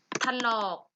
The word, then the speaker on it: ถลอก: ถลอก อ่าน ว่า ถลอก ทะนอก ไม่ มี สระ อะ แต่ เวลา อ่าน ออก เสียง เหมือน เหมือน มี สลัด อะ ต่อ ไป ณ สนาม